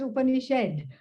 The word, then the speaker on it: Upanishad: That's why I call the Upanishad should be pronounced as Upanishad, because it makes you shed notions, shed wrong beliefs about myself, the universe, and Bhagavan.